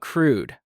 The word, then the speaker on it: crude: What about crude? Crude rhymes with food. Crude oil. Good. Crude oil is not rude oil.